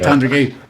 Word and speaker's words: Tandragee: Pronounced that right. Well done. That word. You said it right, Tandragee.